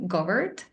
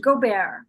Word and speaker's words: Gobert: who is Dr gobert I hope I pronounced your last name right so it's actually it's pronounced goar goar I'm French okay French name yeah it's a French name yes so I've know